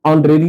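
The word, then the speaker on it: honorary: ऑनरेरी secretary तो यहां एच का उच्चारण साइलेंट हो जाता है। ऑनरेरी नहीं कहते हैं। ऑनरेरी कहते हैं।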